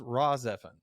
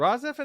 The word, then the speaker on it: RahXephon: But if you can chase down even some way to watch it, there is a series called Raw Zephyr. It is a spell it.